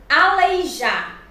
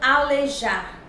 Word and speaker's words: aleijar: Aleijar e não alejar.